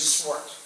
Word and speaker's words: Swart: in the interview your the pronunciation of your last name is swart swart yeah okay yeah gotcha gotcha